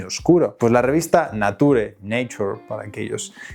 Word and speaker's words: Nature: Pues la revista Nature, Nature, para aquellos que queráis ahí la pronunciación inglesa, publicó en los años 80 un